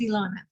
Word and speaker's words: Ilana: Yeah, no, you said it right. It's Ilana.